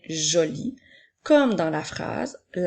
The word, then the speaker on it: jolie: Puisque le son E, la lettre E est une lettre muette, nous n'allons pas dire joli E, mais bien joli, comme dans la phrase « La robe de maman est jolie ».